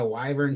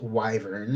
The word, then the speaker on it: wyvern: I found out was pronounced wyvern and not wyvern when I was watching The Witcher geralt of Rivia himself right Henry Caville said wyvern and I was like oh I've been pronouncing it wrong for 25 years okay here we go